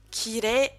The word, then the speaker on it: kirei: De manière générale, à 99,9% des cas, quand vous voulez allonger une syllabe en E, une syllabe en E, eh bien il faudra mettre un I, comme dans sensei ou dans kirei. La deuxième possibilité, et elle